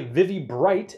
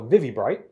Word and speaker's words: ViviBright: the first to know I believe you pronounce the company vivvy bright VI VI bright so vivvy bright this is a full